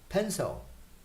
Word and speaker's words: pencil: and then i say now you change the the stressed syllable you say pain zone in portuguese so in english you say pencil and then you get the right pronunciation so remember pencil this